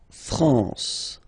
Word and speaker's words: France: m here you get the sound you don't pronounce the m at all it's this nazal okay l okay France La France okay n here nazal La France